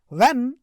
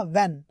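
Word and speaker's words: when: व्हेन, इसको व्हेन नहीं बोलना, एच साइलेंट है, इसको बोलना व्हेन, व्हेन ही सॉ द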